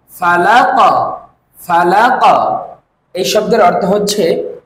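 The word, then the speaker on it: فلق: এভাবে করে আপনি 10 বার বলুন এই শব্দের উচ্চারণ হচ্ছে ফালাক ফালাক ফালাক এই শব্দের অর্থ হচ্ছে প্রবাদের শব্দটি আমার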